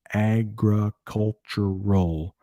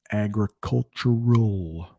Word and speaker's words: agricultural: phoenix was mostly agricultural agricultural that l sound at the end is a tough one i'm not gonna lie that's a tough one agricultural yeah i'm so i'm